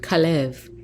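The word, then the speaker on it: כָּלֵב: transliterated with a k has the hebrew pronunciation of kalev and it's someone of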